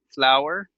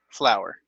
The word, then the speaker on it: flour: But the pronunciation, la pronunciación es igual. Flour, flour.